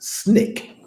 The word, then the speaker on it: SNCC: student non-violent coordinating committee sncc pronounced snake these young folks with something else most belong to snake the snoot not the student non-violent coordinating committee what was called snake for its initials the college kids saw